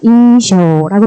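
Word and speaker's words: 印象: 인쇼라고 발음을 하시면 되고요.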